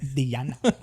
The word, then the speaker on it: Diana: The way she likes to pronounce. She yelled at me once before. It's Diana.